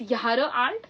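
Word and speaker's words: Jahr: pronounced asage prounce so it's Yar it's not jar art it's is be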